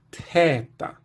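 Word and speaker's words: θῆτα: O valor fonético dessa letra, originalmente, era de TH, pronunciado como se fosse o som T mais o som H aspirado na sequência. Então a gente teria aqui teta, teta.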